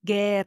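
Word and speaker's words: guerra: Ger, the U there is silent here. You pretend like it's not there.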